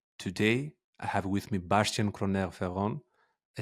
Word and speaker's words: Bastian: impo impossible I totally understand that so correct pronunciation would be Bastian Fon and uh it's actually one one part